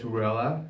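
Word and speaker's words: Raella: So number one song was, I'm gonna butcher it, but it's spelled R-A-E-L-L-A, but it's Ruella, as Pac pronounces it.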